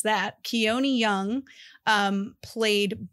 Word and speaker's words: Keone Young: and keone I did look up how to pronounce that keone young um played B the like I don't know